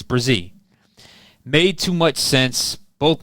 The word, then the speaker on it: Bresee: I was calling him Bresee, but it's Bresee.